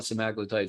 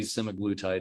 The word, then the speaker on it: semaglutide: or i'm sorry sims some people call it cemaclotide some semiglutid probably semiglutite is the more commonly used uh pronunciation of this so this is a